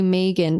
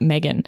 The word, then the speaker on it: Megan: In Australia, we say Megan, but I think, you could be a Megan. It's only one G, but I think Americans pronounce that Megan.